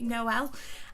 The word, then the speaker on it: Noel: of the Emily Noel sorry I think that's how I pronounce name I've been calling Emily Knoll so apologies Emily I believe it's Emily Noel and revolution beauty collaboration